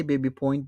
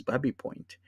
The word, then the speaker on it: Babby Point: And I mean, you could say Baby Point, but colloquially, if you live in the Runnymede area where you have Babby Point, you pronounce this as Babby Point.